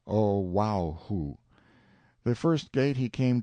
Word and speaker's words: Oahu: named him after this island Oahu pronounced oh wow who the first gate he